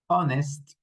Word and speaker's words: honest: But here in this group of words, we don't pronounce the H. So ghost, honest, honest, our mechanic, R scheme, school, what, when, where.